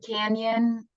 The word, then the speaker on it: canyon: Like when we say canyon, we hear like yun, Y-U-N.